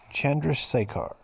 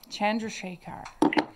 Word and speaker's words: Chandrasekhar: And Jay Chandush. How do you say it, Aaron? Chandrasekhar. Chandrasekhar. That's good.